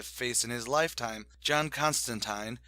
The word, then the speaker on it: Constantine: John Constantine, yes, it rhymes with turpentine, is someone who has